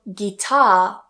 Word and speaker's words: guitar: Now with the spelling gui, the same thing happens. So guitar. And watch that stress.